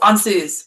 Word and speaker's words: Ansuz: That's uh Oh, Ansuz Ansuz, I think. Ansuz. I I want to say that's right. Let's see. This the stress is on the first syllable.